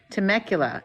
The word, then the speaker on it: Temecula: Tick Tock I know they're in Temecula is that right did I pronounce that right yes and that it's just